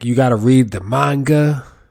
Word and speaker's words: manga: you gotta read the manga. Is it manga or manga? I think the proper way to say it is manga.